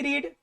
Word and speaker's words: read: To, verb one भी रीड, verb to भी रेड, और वर्ब थ्री भी रेड। तो रेड का स्पेलिंग भी READ ही होता है, सिर्फ प्रोनाउंसिएशन चेंज होगा।